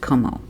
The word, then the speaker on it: Comeaux: last name is spelled cebu me8 UX but pronounced como the daughter of Celia she wants answers of